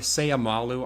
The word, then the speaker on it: Seumalo: Uh signed Gardner Minshew, signed guard Isaac Seumalo Seumalo. Is that how you say his name, Braden? Uh yeah, Seumalo.